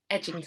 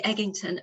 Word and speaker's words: Eginton: more about edgington and i will be more confident in how i say his name now edging and then there's a story to that some people do um do say eggington and i see from